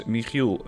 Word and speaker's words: Michiel: Dutch or Belgian, because the G sound from Utrecht, that's something that most nationalities, most languages don't have. It's very hard to pronounce, and it is also present in my own name. Which is Michiel, in case you're still wondering what the name is behind. It's a name that is very hard to pronounce for non-Dutch speakers.